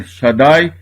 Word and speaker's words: Shaddai: Nós aplicamos a palavra El Shaddai ou El Shaddai para o Eterno, para Deus Todo-Poderoso. A palavra Shaddai tem duas sílabas porque tem duas vogais.